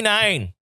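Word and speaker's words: Nein: But not only that, the Mighty Nine, which is spelled like nine, like no.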